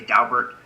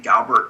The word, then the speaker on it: Daubert: By the way, some people say Daubert and some people say Daubert. The family actually pronounced their name Daubert, and we usually name cases after families, so I say Daubert, although I realize that I'm saying it wrong. The correct pronunciation should probably be Daubert.